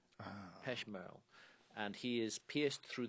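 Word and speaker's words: Pech Merle: P E C H M E R L E Peshmerrell.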